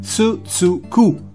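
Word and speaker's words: つづく: Quelli sono caratteri sillabici, gli hiragana, attenzione, non kanji, hiragana, che si pronunciano grosso modo con tsu tsu ku, che letteralmente in giapponese vuol dire continua.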